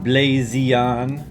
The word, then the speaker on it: BlaZeon: weekly episode 204 on blazon I pronounce it like that because the Z is capitalized in the logo in fact it's a